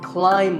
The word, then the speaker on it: climb: fact in many words when you have the letter combination MB the B is silent if I had a ladder in front of me now I could climb the ladder not climbed a quick note in the pronunciation symbols that you see on the screen the AI is an I sound not an a sound so the word is climb by the way what's